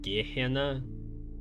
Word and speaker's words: Gehenna: Also, I learned that it's pronounced Gehenna. It's one of the trailers mentioned that title, so I was pronouncing it wrong.